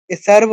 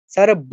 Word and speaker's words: সর্ব: চার নং শ্লোক সার্ভ সর্ব দেখুন এখানে বলে দিচ্ছি সব যতগুলো ব আছে সবগুলো কিন্তু অন্তস্থ সর্বো সার্ভ নয় সর্ব সব অন্তস্থ কিন্তু সর্বপানি গাওগ্ধা গোপাল নন্দনাহ